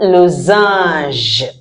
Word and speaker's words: losange: Un losange. Okay. A N sounds ah, and the G E sounds j. That is why I always say, learn to pronounce it before you see it.